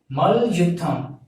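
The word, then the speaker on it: மல்யுத்தம்: So that wrestling represents Mal Yutham. So you have to pronounce this as Mal Yutham. So M-A-L, Mal, Y-U-T-T-H-A-M, Yutham. So Mal plus Yutham, Mal Yutham.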